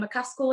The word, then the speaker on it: McCaskill: And I'd quite like to see Katie Taylor fight Jessica McCaskill again.